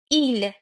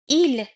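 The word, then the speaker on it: ils: ما وو یعنی شما ایل آنها جمع مذکر ال آنها جمع مؤنث اگه دقت کرده باشین تلفظ سوم شخص مفرد و جمع عین همه اما نوشتار متفاوتی دارن.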